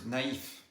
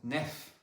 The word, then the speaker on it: naïf: Same thing for the word naïf. If you remove the tréma, it would be pronounced nef, which is not correct.